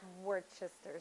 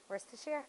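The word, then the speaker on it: Worcestershire: but now it's like worchester sauce i know you're talking about it i used to what words to share that's how you say it worse to share okay i have to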